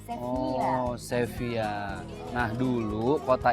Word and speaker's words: Sevilla: Seville, tapi kalau bahasa Spanyol double L itu dibacanya Y gitu. Sevilla.